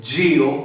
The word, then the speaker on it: Geal: His name is Daniel Geal. Oh my word, he pronounced it correctly.